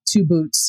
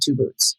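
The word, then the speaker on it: 2-BOT: And he has his bot 2 boots. It's spelled the number 2 BOT, but they call him 2 boots.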